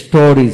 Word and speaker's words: stories: STORIES, স্টোরিজ, স্টোরিজ।